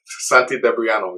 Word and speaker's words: Santi Debriano: with uh renowned bassist santi debriano how you doing man i'm fine man thank you thank you thank you and i pronounced your name right correct is that correct santi dabriano exactly okay just want to make